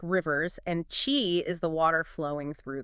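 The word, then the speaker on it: qi: this key thing I keep hearing about key pronounced Chi think of it as your vital energy that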